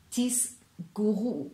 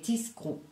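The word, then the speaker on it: תסגרו: Ce n'est pas tisguru ou tisguri, tisgri et tisgru, yisgru, pas yisguru ou yisguru. Non, c'est yisgru et tisgru.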